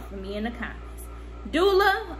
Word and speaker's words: doula: Doula or doula? And I always say doula, and everybody be laughing. I'm like, y'all, I've been saying this for years. Ain't nothing new, ain't nothing changed. Okay, I've been saying it wrong for years. Doula. I say doula, some people say dola, whatever.